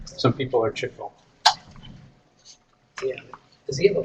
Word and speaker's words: Chico: everybody pronounces Chico's name I'm wrong? showing you that. I I can't don't reach know. that. It's too close. You can't even reach that. People pronounce it Chico, but Right. it's Chico.